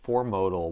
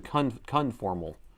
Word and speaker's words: conformal: Why do I keep keep wanting to pronounce it wrong? Anyway, the coding I keep wanting to say for modal.